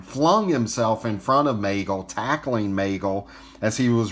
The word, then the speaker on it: Maegle: of the san francisco 49ers now the correct pronunciation is magel it's not mogul and he actually changed his name during his